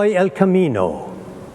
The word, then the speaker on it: El Camino: would have said if he spoke English ioso El Camino is how you say it in Spanish now